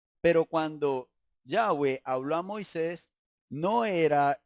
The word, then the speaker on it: Yahweh: Por eso nosotros y el nombre del Eterno, como ya el Señor nos dio la oportunidad de explicarnos, no es Yahvé, sino Yahweh. Y la pronunciación es Yahweh.